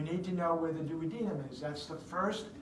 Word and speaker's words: duodenum: that you should know that that is the duodenum yes duodenum is also a correct pronunciation about this planet right I kind of